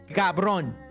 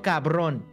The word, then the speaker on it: cabrón: Cabrón. What does it mean? No te tengo miedo, cabrón. No. You're saying it wrong. Cabrón.